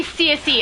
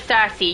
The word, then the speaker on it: Cersei: They say CSE instead of Cersei, you know.